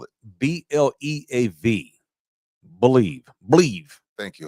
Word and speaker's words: Bleav: Today's major show announcement is that In the Building can now be heard on the Bleav Podcast Network.